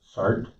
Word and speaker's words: SART: Sheriff, you indicated that this, is it pronounced SART? S-A-R-T? Yes.